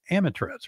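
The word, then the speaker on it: Amitraz: But one of them is Amiflex, and I believe that's Amitrez, right? That's right.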